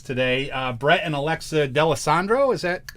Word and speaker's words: D'Alessandro: very special guests today uh brett and alexa d'allesandro is that how you pronounce that yes yes all right got it